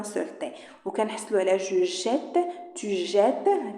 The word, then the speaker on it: jette: يعني مع نو مع فو كنخليو ان سول تي، وكنحصلوا على جو جيت تو جيت. كيفاش كتنطق جيت؟ جو جيت تو جيت il elle jette nous jetons ماشي nous jetons nous jetons vous jetez il elle jette.